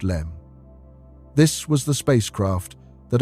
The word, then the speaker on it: LM: The LM, pronounced LEM.